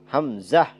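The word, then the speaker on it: همزة: টান আছে টান নাই হামজাহ এটার মধ্যেও কোন টান নাই তাইলে এই দুইটি হরফ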